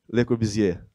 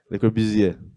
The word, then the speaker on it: Le Corbusier: Le Corbusier. Ok, tem que fazer o biquinho. Le Corbusier.